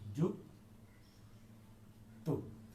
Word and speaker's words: যুক্ত: কিন্তু আমরা যদি যুক্ত শব্দটা উচ্চারণ করি, যুক্ত, এই যুক্ত শব্দে আমরা কিন্তু লিখছি অন্তস্থ জ দিয়ে, কিন্তু আমরা যখন উচ্চারণ করব তখন কিন্তু আমরা লিখব বর্গীয় জ দিয়ে, যুক্ত।